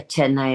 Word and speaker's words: Chennai: Is that how you pronounce it? And I remember going to the Chennai, is that correct? Yeah, Chennai is correct.